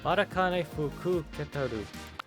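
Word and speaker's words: Matikanefukukitaru: Matakane Okay, I always forget that ku when I pronounce her name. Matakane Fuketaru.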